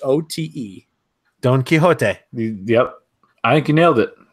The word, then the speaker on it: Don Quijote: guys pronounce it how it's supposed to be pronounced can do it it DNQ UI x OTE Don Quijote yep I can nail it and do FL